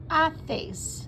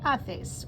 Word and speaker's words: haces: ¿Qué haces? The H is silent. ¿Qué haces?